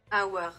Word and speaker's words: Aouar: Aouar. Now, I don't really know how to pronounce it, but according to Google... Aouar. That's how you say it.